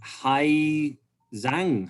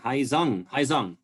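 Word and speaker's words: Hải Dương: So Hai Zong, Haizung, yeah, Hai Zong, but spell Hai Duong.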